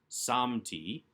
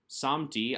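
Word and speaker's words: שמתי: vowel som t and the accent on the first syllable because it's really the second to last syllable samti samti i have set and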